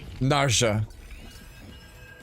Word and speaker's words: Narja: Naria the J. You pronounce the J in this.